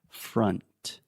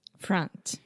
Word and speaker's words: front: So again, this is the schwa sound, fra, and then you have that final N sound. So the tip of your tongue is touching the roof of your mouth. Front. Front.